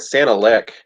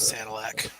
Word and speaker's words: Sanilac: Did I pronounce it? I think Santa Lick. To be honest, I haven't really heard too many I'm- people say it before. I'll buffer I've that one. always called Sanilac.